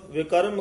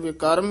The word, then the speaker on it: विकर्म: ना लाय साक संग विकर्म कमाए पद विकर्म ही उच्चारण करना है विक्रम नहीं कह देना वावे तो चक के